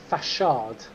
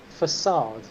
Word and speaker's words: facade: friend ciggy would say that's just the fachard because apparently no one ever told siggy that the word is pronounced facade and yet he decided